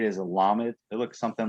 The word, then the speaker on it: lamed: page 8 is a lamed. It looks something like that. how do you say it? Lamed, Lamed? lamed with like an L sound. Not like- llama, but lamed.